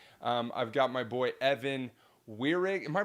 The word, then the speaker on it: Weirig: I've got my boy Evan Weirig. Am I pronouncing that right, Evan? Weirig, yeah.